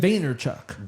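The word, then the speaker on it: Vaynerchuk: Veaynerchuk.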